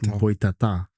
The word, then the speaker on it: Boitatá: See the accent. Oh, with that yeah. Right. Emphasis on the last. Boitatá.